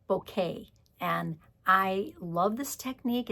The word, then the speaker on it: bokeh: It's called Bokeh, and I love this technique. It's an old technique, and now they have designer series paper that is Bokeh technique. It's B-O-K-A-H, B-O-K-E-H, but it's pronounced Bokeh.